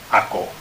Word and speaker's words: hago: So it isn't hago, it's hago. So the C becomes a G.